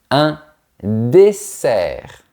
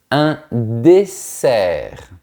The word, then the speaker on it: dessert: Attention à ne pas confondre les mots dessert et désert. Le premier est sucré, le deuxième est très sec. Voyons ça. Un dessert. Un dessert. Un désert. Un désert. On entend bien la différence entre les sons et z.